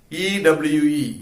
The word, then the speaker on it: ewe: E-W-E, ewe.